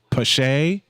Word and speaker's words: Pache: Pache.